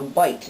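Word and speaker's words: bight: within a rope is called a bite it's spelled b-i-g-h-t see there's a bite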